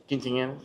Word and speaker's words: quinceañeras: Quinceañeras, yeah.